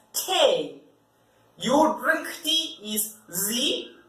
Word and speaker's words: Tee: The spelling is the same, but you pronounce it as Tee.